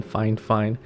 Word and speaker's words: FIFINE: and before you ask yes that is the correct pronunciation fine fine from what i am told several times just to